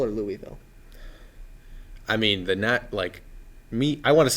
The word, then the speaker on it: Louisville: And I know I am familiar that he picked Louisville in this game, Yeah. which surprised me. Do you say Louisville or Louisville?